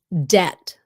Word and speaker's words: debt: Debt. You don't pronounce the B. You don't pronounce the B. Debt.